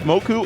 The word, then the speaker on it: Moco: I have conclusive knowledge Moco says his name is pronounced Moko but people say moku and he doesn't care so you can call himoku if you want mokumoku that's